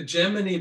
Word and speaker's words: Gemini: And you'll notice I'm very definitely pronouncing it Gemini, because apparently there was a debate whether it was Gemini or Gemini, and the astronauts decided that it was going to be Gemini, contrary to all linguists.